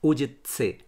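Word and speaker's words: Užice: स हमारे हिंदी में विभत्स, उत्सव या फिर वत्स जैसे जो शब्द हैं उसमें आधा त और स यूज़ होता है, तो TSA वाली जो साउंड है वो प्रोनाउंस की जाती है इनके लेटर सी में। फॉर एग्जाम्पल, अब मैं आपको कुछ यहाँ के शहरों के नाम बताता हूँ। एक शहर है उजित्से, दूसरा है गोलुबत्स, तीसरा है पुजारेवत्स।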